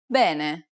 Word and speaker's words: bene: out ah ah ah the next vowel is e bene it's identical to the e sound in the word red this is an open sound so be sure to widen your mouth the next vowel is